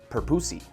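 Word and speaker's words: purpusii: So, you know, technically the way you're supposed to say the names, it's based off of whoever it's named after. The guy's name was Perpus. So it's Perpusi. That's how you say it.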